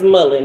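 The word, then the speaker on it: mullein: So, I am drinking I think it's pronounced mullen.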